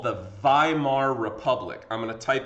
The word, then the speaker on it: Weimar: like weimar but it's w's are pronounced as v's in german so weimar republic okay the weimar